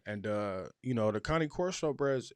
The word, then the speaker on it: Cane Corso: it's a blue master it's a connie corso that's that's that's what is that's how you say it but a lot of people say can course so but it's not